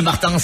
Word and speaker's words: Martins: Alors, mais moi, je tiens à ce que le S se prononce même en français. Merci, monsieur Martins. Mais je vous en prie. Martins.